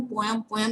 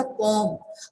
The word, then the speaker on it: poem: अब आपको एक चीज आपको नोटिस करवाती हूँ, जब हम प्रोनाउंसिएशन करते हैं तो हम आपको जनरली आपको पता है कि हम पोएम यूज करते हैं, बट the correct pronunciation is here as अ पोम. हम इसको क्या बोलते हैं? पोएम नहीं बोलते. करेक्ट प्रोनाउंसिएशन क्या होता है? पोम.